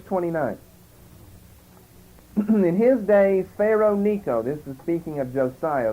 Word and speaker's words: Necho: But a CH, of course, in King James with a line under it pronounced like a C. That's, of course, the same as Chaldean. And if it ends with an H, that's really not pronounced, so in effect you've got Necho.